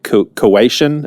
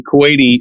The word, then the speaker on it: Kuwaiti: in as a uh Cuian. Is that how you say it? Cuian. Cuatian. No, not really. Kuwaiti would be the term.